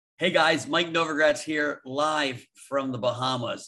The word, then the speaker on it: Novogratz: And is it Novogratz? Is that how you pronounce that? Novogratz, like new city in Russia.